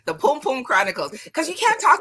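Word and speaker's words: pum-pum: the pom-pom chronicles so i gotta teach you how to say it yes right just like that the pom-pom chronicles because you can't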